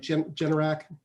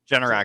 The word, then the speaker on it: Generac: you know i can never say it right generac generac i believe yeah generac um typically does well